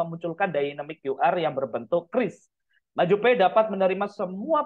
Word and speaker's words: QRIS: Jadi kalau di Maju Pay itu untuk QR-nya atau krisnya, jadi bacanya itu bukan QRIS ya, Bapak Ibu-ibu ya, tapi ada informasi dari Bank Indonesia untuk QRIS itu bacanya adalah kris ya.